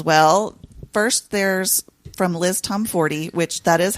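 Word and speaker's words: Tomforde: First, there's from Liz Tomforty, which that is how you say her name. I always thought it was Tomford, but when I saw her Oh. in Chicago, it's Tomforty.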